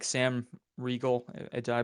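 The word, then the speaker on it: Riegel: Role, and there's like people track like Sam Regal. Did I pronounce Sam's name right? Like what he Regal.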